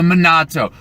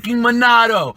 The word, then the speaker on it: Monado: pops off he's like no it's not minato its Bernardo with a D it's monado you've been saying it wrong this whole time you're so stupid it's monado oh and now I